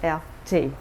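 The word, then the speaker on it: Erté: Roma dto and he took his name from the initials RT pronounced in French LT and this was purchased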